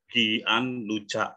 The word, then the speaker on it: Gianluca: Kalau pernah lihat orang Italia, nama-nama mereka, ya, tulisannya Gian, Gian Luca, gitu ya. Bacanya apa? Gian Luca. G-nya berubah jadi J. Kenapa begitu? Ketemu huruf I. G ketemu I, Gianluca.